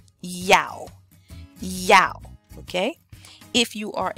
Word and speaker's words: Yao: born on Thursday and the person who wrote this used the phonetic spelling which is great because if you're a male born on Thursday your name would be Yao Yao Yao okay if you